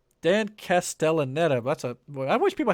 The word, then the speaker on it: Castellaneta: alongside the former fox property stalwart cast dan castanella castaneda dan castellaneta that's a i wish people had easier pronouncing names that's for sure he plays homer